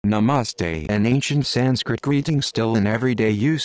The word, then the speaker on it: Namaste: all made from the same one Divine Consciousness Namaste the more formal greeting Sanskrit nasar pronounced n ah masar is also used in